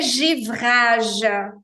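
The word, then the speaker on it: givrage: caminho paraa perfeição de jivraj mesma coisa o e com acento agudo e som fechado de g vraja e final mudo sobra o g j j de jivraj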